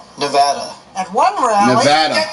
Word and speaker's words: Nevada: The Donald seemed delighted with his own pronunciation. Nevada. Nobody says it the other way. It has to be Nevada. Actually, Donald, wrong. This is right. Nevada.